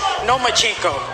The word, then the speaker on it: Lomachenko: I think you said his name wrong. It's Nomachenko, because he doesn't want to fight me.